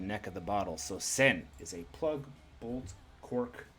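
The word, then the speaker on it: 栓: our first word of the day is a send a plug bottle a plug bolt cork bung or a stopper uh pronounced pronounced sen with the radicals for a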